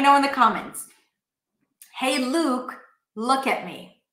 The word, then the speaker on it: Luke: Two different words, tense oo, Luke, and then look.